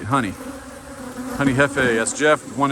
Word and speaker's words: Jefe: Pronounced like the J and jalapeno, right? Honey, honey hefe, that's Jeff.